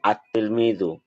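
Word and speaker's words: التلميذ: তিলমিদুন আল যুগ হলে উচ্চারণ হবে আত-তিলমিদু। লেখা হবে আত-তিলমিদু। লেখা হবে এটা, উচ্চারণ হবে এটা, আত-তিলমিদু।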